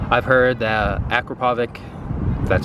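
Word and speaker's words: Akrapovič: good on that physio 9 I've heard that Akrapovic that's how you say it and m4 and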